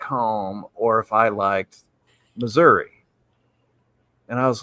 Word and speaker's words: Missouri: Half the state can't even pronounce the state right. So, Missouri. No, it's Missouri, you moron.